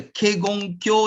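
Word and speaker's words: Kegon-kyō: originated from this one the k gong kyo is a japanese pronunciation because many buddhist buddhist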